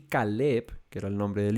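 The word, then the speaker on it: כָּלֵב: Pero es diferente porque el nombre de él se pronuncia Caleb y Caleb significa fiel.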